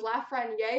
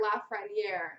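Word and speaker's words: Lafrenière: right i googled it if it was la frania or la franiere i think the consensus was la franiere but that's the guy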